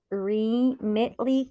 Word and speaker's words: Remitly: r l y looks like rely re REM remitly global remitly global and I'll spell it for you r e m i t